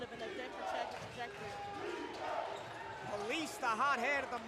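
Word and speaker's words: Palessee: Bland almost stripped by Police. That's P-A-L-E-S-S-E-E, by the way, not the way you're thinking it's spelled. Like, think of saying police.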